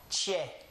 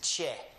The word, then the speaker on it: che: Well, in Spanish, the CH is actually called a che. That's what they call it, che. The Spanish name of these two letters is che.